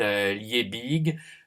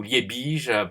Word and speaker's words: Liebig: les travaux d'un chimiste Liebig, ou Liebig pour bien prononcer à l'allemande, ou Liebig même, je crois, pour bien prononcer à l'allemande.